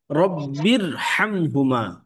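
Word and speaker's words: رب ارحمهما: না ঠিক আছে এখানে একটা আলিফ আছে যে আলিফের উচ্চারণটি আমাদের পড়ার প্রয়োজন হচ্ছে না রববির রব্বির বার নিচে যে জেরটি আছে এই জেরটি সরাসরি রকে ধরবে রব্বির রব্বিরহামহুমা রব্বিরহামহুমা রব্বিরহামহুমা কামা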